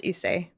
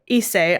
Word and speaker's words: Issei: I think it's pronounced Issei. Okay.